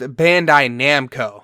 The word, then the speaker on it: Bandai Namco: just slaughtered it again it's properly pronounced Bandai Namco so now you guys